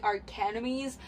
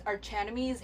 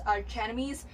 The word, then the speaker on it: Archenemies: our Academy because like the CH can be pronounced as 2 K sound and I always thought it's the Arcanum ease until I don't know a few months I